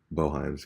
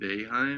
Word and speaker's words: Boeheim: Jimenez was in the street walking, or in the middle of the highway walking, and he was struck by Boeheim's car, and he passed away.